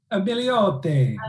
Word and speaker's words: Milioti: Milioti.